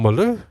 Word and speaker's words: Malou: The first commentator who introduced him called him Malou because that is how you pronounce it.